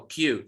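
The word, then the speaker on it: queue: your turn so it's it's pronounced as as if like you are pronouncing the letter q okay so q so when you want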